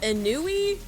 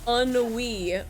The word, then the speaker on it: ennui: I was like a ennui? No, it's ennui.